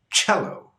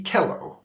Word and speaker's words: cello: was C or maybe Kell because those more or less follow the standard rules of spelling and pronunciation however the sounds are sh and CH respectively even though those don't